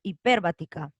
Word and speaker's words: hiperbática: Por eso se le dice coma hiperbática. Hiperbática, ¿no? Porque la tilde está acá en la per.